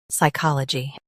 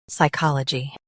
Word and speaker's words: psychology: US uses ka, UK uses ko. Watch that middle sound.